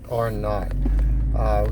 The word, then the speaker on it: R naught: So R naught, it's written as R0, which is usually pronounced like N-O-U-G-H-T, R naught.